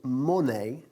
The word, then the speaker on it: money: Y hablando de dinero, ojo con la pronunciación de la palabra dinero. No decimos money, ¿ok? It's money, ¿vale? Todas esas palabras que acaban en EY tienen un sonido final de I, como honey, money, ¿ok?